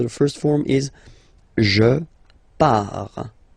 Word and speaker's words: pars: Okay, so the first form is je pars. So final S not pronounced. Je pars.